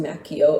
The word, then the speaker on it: Macchio: Yes, it's pronounced Macchio, according to him. To put it bluntly, you don't say Pinocchio, you say Pinocchio. So his name is Ralph Macchio.